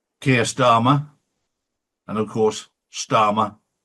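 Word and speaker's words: Starmer: We're going to see a huge backlash against Kia Dharma and of course Stararma rhymes with karma.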